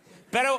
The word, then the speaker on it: Beto: It's Beto. Beto, but I always want to say Beto. No, it's Beto. What I really want to say is Dax. Dax O'Rourke. Beto O'Rourke said, if we don't deal with climate